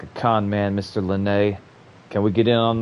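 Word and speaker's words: Lyney: Yeah, it's Len. That's how to say his name.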